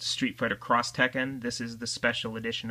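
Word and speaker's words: Street Fighter X Tekken: Um we also have Street Fighter XT Tekken which I believe is pronounced Street Fighter Cross Tekken.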